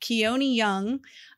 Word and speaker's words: Keone Young: and keone I did look up how to pronounce that keone young um played B the like I don't know